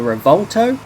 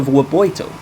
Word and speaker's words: Revuelto: 2024 Lamborghini wo and apparently that's how you pronounce it it's not the revolto apparently it's the Vito this crazy Beast has a 6.5 L V12